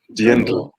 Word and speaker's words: Dirndl: They had to actually deconstruct and recreate a new look made from, I cannot pronounce it. Dirndl.